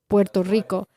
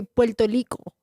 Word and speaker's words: Puerto Rico: They don't say it like Mexicans say it. A Mexican would roll the R's, Puerto Rico. And a Puerto Rican will be Puerto Rico, like an L.